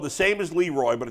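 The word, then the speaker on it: Le Roy: Hey, Leroy, there's a town in upstate New York called Leroy. It's spelled the same as Leroy, but it's pronounced Leroy.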